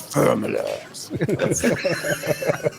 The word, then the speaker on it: Ferommalaars: Yeah, this is Faramallars. The proper pronunciation.